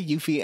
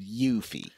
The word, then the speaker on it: Yuffie: mechanism and yuffie or no yeah they say yuffie and it's pronounced yuffie uh i always thought it was yuffie this